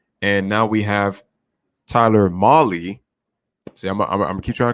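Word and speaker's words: Mahle: now we have tyler molly see i'm keep trying to correct myself tyler molly at the plate the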